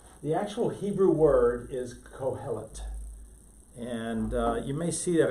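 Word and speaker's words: Qohelet: This sound is pronounced in Hebrew like a K, so it's kohelet.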